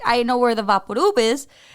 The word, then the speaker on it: VapoRub: You know, but it is actually just one R. It's not vapor rub. It's VAPORUB. No, it's not.